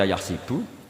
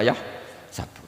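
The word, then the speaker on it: يحسب: Karena dalam qiraat sab'a ada yang baca yahsibu, qiraat kita baca yahsabu. Tapi guru-guru kita kalau ngajar fikih itu bacanya yahsibu. Tapi kalau baca Quran yahsabu. Ya kan Quran kita kan ayah sabu Allah yaqdiru alaihi ahad, bukan dibaca ayah sibu.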